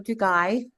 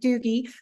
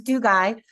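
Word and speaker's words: Dugi: Yes, I can tell you that his name is Orlando Dugai. Everybody pronounces it Doogie, but it's Dugai.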